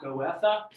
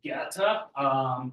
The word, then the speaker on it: Goethe: so you know, and you should know how to say his name, it is not Goethe, it is Goethe. Those with German backgrounds might suggest that I don't quite have the pronunciation down, but if you get close to that, you're basically doing as well as you can with English as your primary language.